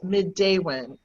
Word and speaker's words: Midewin: deals with healing and balance and it is pronounced midday when madeawan was established 25 years ago next february we're